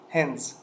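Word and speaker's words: hens: گودی نمبر ت هنز مرغها هنز زی تلفظ میشه میبینر فاگز فاگز فاگز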